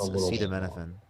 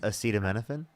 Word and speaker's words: acetaminophen: He couldn't he couldn't even pronounce acettomenophen. I can't pronounce that either. What is that? Acetaminophen.